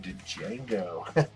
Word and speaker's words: Django: Sheldon Beckart exclusive Virgin, and it's an homage to Leonardo DiCaprio in Django. Django, the D is silent, motherfucker.